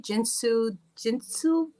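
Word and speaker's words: Jin Shin Jyutsu: And I know you're a Reiki master, and I'm going to try to pronounce this right. Jinshin Jitsu.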